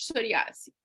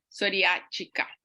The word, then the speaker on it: psoriática: Então tá, então hoje a gente vai falar sobre psoriase e artrite psoriásica, tá? Psoriática.